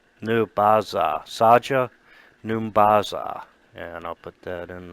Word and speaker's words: Saja N'Baza: And it says, I am Saja Numbaza. Saja Numbaza.